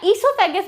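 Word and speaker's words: oesophagus: Intestine भी होती है, ओइसोफेगस या ईसोफेगस भी प्रोनाउंस करते हैं इसको, ओ साइलेंट, वो भी होता है इनके बॉडी में।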